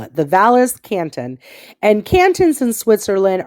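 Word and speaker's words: Valais: that Zermatt lies in Zermatt is in the Valles Canton now it's spelled v-a-l-a-i-s is how they spell it the valis Canton and canton's in Switzerland are districts or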